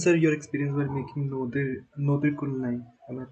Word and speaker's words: Nodir Kul Nai: And sir, your experience while making Nodir Kul Nai. Am I pronouncing it right? Yeah. Yeah, Nodir Kul Nai.